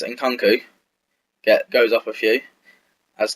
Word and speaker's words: Nkunku: I might change it up towards January, as Nkunku, I've learned how to say his name, it's Nkunku, goes up a few, as does Caleri and everyone else.